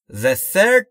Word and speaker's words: third: اما در مورد تلفظ TH در third باید دقت بکنید، زبونتون زیر یا پشت دندونهای بالا و سعی میکنید بگید سه سارا.